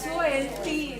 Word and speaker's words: salt: Pronunciation is SOLT. Salt. Okay. Salt is sold. Okay, when you pronounce it faster, it sounds like sold.